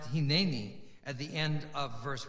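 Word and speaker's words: הִנֵּנִי: abraham abraham responds um by the way it's definitely pronounced hinani at the end of verse 1 in chapter 22.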